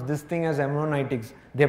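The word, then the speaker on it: hermeneutics: me how do you pronounce this thing as Heron itics they pronounce so I also pronounce harmonics of Suspicion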